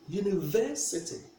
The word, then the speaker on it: university: For instance, if I say university, where do we place the stress? We place the stress on the third syllable, university.